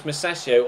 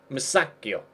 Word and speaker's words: Musacchio: I don't know whether it's Masaccio or Masaccio. I'll have to have a... I'll check on my pronunciation website and see if it's on there.